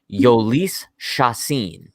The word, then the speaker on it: Jhoulys Chacin: um they signed i had to look up pronunciation of his name because i didn't want to butcher it yolice shasin to a minor league deal he's 33 years